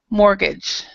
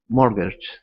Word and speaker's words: mortgage: mortgage okay so remember in the pronunciation of this the t is silent so we we say mortgage mortgage yeah no T um